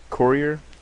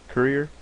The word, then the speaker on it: Courier: Um I changed it from Times New Roman to uh crier courier. Courier that's how you say it.